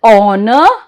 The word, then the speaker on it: honor: Sometimes word starts with a silent H. Example, honor, our, honest and air.